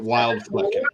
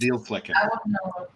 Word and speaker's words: Wildflecken: We would pronounce it Wildflecken, horrible. but it's actually pronounced Dealflecken.